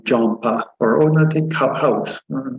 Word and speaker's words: Jhampa: And then for my name again, Jhampa, 2 syllables, Jhampa.